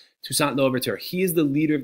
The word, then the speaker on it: Toussaint Louverture: this man right here his name's shushant no overt or pardon my horrible French pronunciation toussaint louverture he is the leader